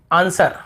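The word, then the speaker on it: answer: जैसे आंसर, हमें आंसर नहीं पढ़ते, वर नहीं पढ़ते, आंसर, बस आंसर, जवाब।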